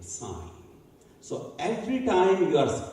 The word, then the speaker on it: sine: We decided to say, call it sign, S-I-N. But that becomes sin. That's not a good pronunciation. So we decided to start calling it sign.